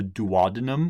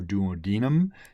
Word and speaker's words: duodenum: of the small intestines called the duodenum or duodenum, depending on how you want to pronounce that, which is the beginning of your small intestines.